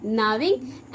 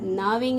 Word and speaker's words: gnawing: जी को प्रोनाउंस नहीं करना है, नाविंग एनिमल्स, ठीक है ना. जब मैम अगर डिक्टेशन लेगी और नाविंग कहेगी तो ऐसा नहीं है कि एन से शुरू कीजिएगा, जी लगाइएगा. नाविंग animals. Okay, ji is silent.